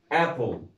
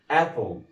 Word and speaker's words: apple: تعالوا نشوف امثله كتير قوي عندنا في كلمات في اخرها حرف ال اي، زي كلمه ابل. ما اقولش ابل، لا، اسمها ايه؟ Apple.